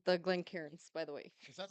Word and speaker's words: Glencairns: Jason doesn't like the Glencairns, by the way. Is that how you pronounce it?